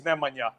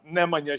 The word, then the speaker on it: Nemanja: world class, they were like, "Nah, it is Nemanja. Nemanja, show him respect." So I was a couple of months away from being pronounced Bojan, but then my career went like